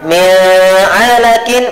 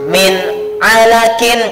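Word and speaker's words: مِنْ عَلَقٍ: Karena di sini tadi pengertiannya izhar halki yaitu bacaan yang dibaca nah, kalau bacanya mi'alakin berarti tidak betul atau salah seperti itu? Menjadi salah kalau baca yang benar adalah min alakin.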